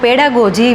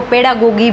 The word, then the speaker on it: pedagogy: तो पेडागोजी भी बोलते हैं और कुछ लोग इसको पेडागोगी भी बोलते हैं।